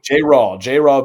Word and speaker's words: Jeral: Is it Jeral? Is that how you pronounce it? Jeral Vizcaino. Yes.